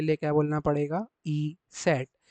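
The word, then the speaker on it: Eszett: double S लिखना है तो उसको उसका जो प्रोनाउंसिएशन रहता है उसको आप लोग क्या करके बोलोगे हमेशा ई सेट क्या बोलेंगे आप हमेशा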